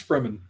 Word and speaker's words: Fremen: Do you pronounce it Freeman or Freeman? Or is it Fremen? Now, Nick, you're starting this. It's Fremen.